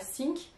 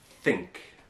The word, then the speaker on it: think: Donc, si vous dites I sink et pas I think, un anglophone va prendre 2 secondes avant de comprendre ce qui se passe. Right, like, why is he sinking? So, think et pas think.